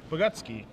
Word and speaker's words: Bogucki: So we're going to see if Woodrow Bogucki, is how it's pronounced, is going to be giving, what kind of beatdowns is he going to be giving this turn?